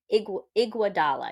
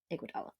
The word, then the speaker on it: Iguodala: Andre Iguodala, something like that, I believe. I listened to her say it, and then Iguodala. Yep, Iguodala.